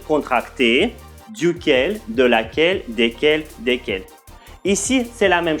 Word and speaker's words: desquels: de laquelle desquels desquels attention s'il vous plaît desquels au masculin desquels au féminin le s qui se trouve au milieu ne se prononcent pas c'est pronom relatif ne